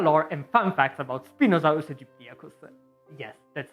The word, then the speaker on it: Spinosaurus aegyptiacus: In this case, it's mostly Godzilla lore and fun facts about Spinosaurus aegyptiacus. Yes, that's how it's pronounced.